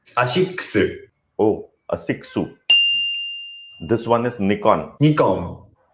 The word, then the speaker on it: Asics: Five Japanese brands you pronounce wrong. Oh, is it? Okay, you teach me. Yeah, this I know. Asics. Asics. Oh, Asicsu.